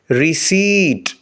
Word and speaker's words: receipt: نی، نی یعنی گھٹنا۔ اور لاسٹ ورڈ کے اسپیلنگز ہیں RECEIPT۔ ان 7 لیٹرز میں سے P سائلنٹ ہے، باقی 6 لیٹرز کو ملا کر پڑھیں گے ریسیٹ، ریسیٹ۔ P کی آواز کو ادا نہیں کیا جائے گا، یعنی رسید،